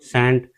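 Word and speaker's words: scent: ऐसे ही हमारा सेंट एस ई एस सी ई एन टी सेंट सेंट में हमारा सी साइलेंट हो जाता है।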